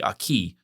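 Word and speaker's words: arche: The aki in English you'd spell that a r c h e.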